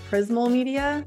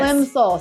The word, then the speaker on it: Plimsoll: We have Haley Tams here with us from, I always say this wrong, Prismal Media. Am I saying it right? Plimsoll. Yes. Plimsoll. See, I say it wrong every time.